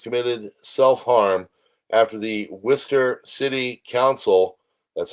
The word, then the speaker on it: Worcester: Last August, Rob Hmans committed self harm after the Worcester City Council, that's how you pronounce that, it's not Wararchchester, uh refused to give him housing and help